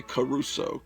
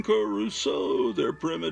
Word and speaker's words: Crusoe: Like the closing credits of Gilligan's Island says, like Robinson, they say Caruso, they added a syllable. Like Robinson Crusoe, it's primitive as can be.